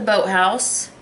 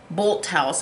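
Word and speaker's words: Bolthouse: course i got the boat house bolt house i always call it boat house it's actually pronounced bolt b-o-l-t bolt house farms classic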